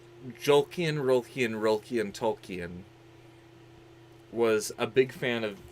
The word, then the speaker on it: Tolkien: No, it's Jolkien, Tolkien.